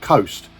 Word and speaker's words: KHOST: two-piece band from Burmingham called Coast k h o s I'm pretty sure that's how you pronounce it but please correct